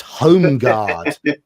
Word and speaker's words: Holmgard: It's Holmgard. Holmgard. Holmgard. Oh, Holm. Okay, got you. Holmgard. Is that how you say it? Home, yeah.